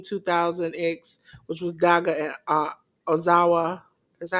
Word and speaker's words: Ozawa: They had Our Rebellion, Kato Kayami and Keno defeat Team 2000X, which was Daga and Ozawa. Is that how you pronounce it? Ozawa.